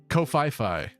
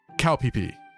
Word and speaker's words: Koh Phi Phi: yeah okay one of the islands is called Koh Phi Phi as an average American citizen you might pronounce that kofifi but apparently this island in Thailand is actually pronounced cowp PE so that's that's where I'm going I'm going